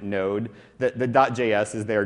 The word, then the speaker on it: Node: unfamiliar with node it's it's spelled node.js but usually just pronounce it node that the.